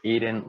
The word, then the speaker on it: Aden: don't say his name correctly my name is aiden it's a tell us about before the